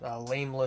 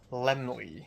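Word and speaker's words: Laemmle: opening this Friday at Lamela Theater. And when I was walking away, this old guy was like, "Actually, it's pronounced Lemley."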